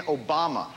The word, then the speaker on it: Obama: Barack Hussein Obama is his name. His middle name is the last name of Iraq's former tyrant. His last name rhymes with Osama.